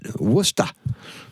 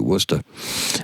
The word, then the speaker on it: Worcester: So, that's why Worcester looks the way it does and it's pronounced Worcester, but Wooster. You got to drop the R, too. Wooster.